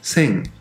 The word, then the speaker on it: 生: más sencillo que muchos se pronuncia como same y significa vida bueno